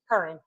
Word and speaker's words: Curran: Curran.